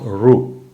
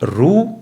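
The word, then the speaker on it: ऋ: comes from that location that's the right pronunciation of Rue it's not Rue see because I'm I'm using my lips that's incorrect or re the they both are incorrect so the closest approximation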